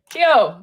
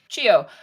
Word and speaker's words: Chio: said it wrong okay kio seka actually chio uh could you fetch